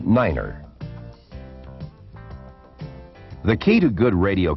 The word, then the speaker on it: nine: to represent these letters nine is the only number pronounced differently it is said as niner the key to good